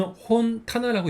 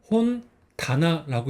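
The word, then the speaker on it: 本棚: 그래서 이 한자를 같이 합하면 뭐 기본적인 거는 혼 타나라고 읽어야겠죠. 그런데 이거를 앞에 뒤에 있는 한자의 앞자리를 타급으로 바꿔가지고 혼 다나라고 있는 겁니다.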